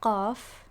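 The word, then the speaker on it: ق: Then there's qaf, which is again a more intense version of another letter. It is a more intense version of the letter kaf, right?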